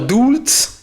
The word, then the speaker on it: Dulz: Alors Dulz, qui se prononce presque comme douce à l'heure actuelle, bah, ça montre bien